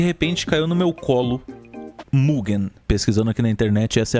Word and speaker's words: Mugen: E de repente caiu no meu colo Mugen. Pesquisando aqui na internet, essa é a pronúncia mais próxima que tem de certo. Se você quiser. Droga. Então o Mug do Sator não é mugem, é mugen.